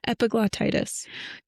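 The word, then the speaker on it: epiglottitis: word cuz I know you're not going to pronounce it right. epiglotitis due to glauitis and shock.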